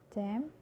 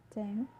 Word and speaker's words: damn: it's actually silent, and when the letter N next to M, for example, damn, damn, autumn, autumn, him, him, column, column.